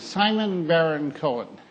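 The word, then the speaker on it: Simon Baron-Cohen: Simon BaronCohen.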